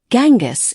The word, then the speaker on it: Genghis: In most English-speaking countries, Gangis is pronounced with a hard G, as in get.